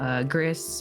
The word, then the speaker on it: Gris: Gris, or I think it's actually pronounced Gris, it's in French.